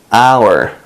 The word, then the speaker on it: hour: 이제 21번 한번 볼까요 our 얘는 사실 h가 묵음이에요 그래서 그냥 아라고 발음이 돼요 이런 것도 외워야 돼요